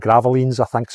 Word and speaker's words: Gravelines: in a place called Gravelines, I think is how you pronounce it. Gravelines is how it spells, but Gravelines, I believe, is how you say it.